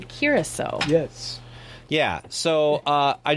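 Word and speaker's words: Curaçao: mispronouncing curacao yep so we were saying blue croco and he i was not in the room he very kindly let us know in a polite very polite fashion and send us a video on how to say it so it's blue curacao yes yeah so uh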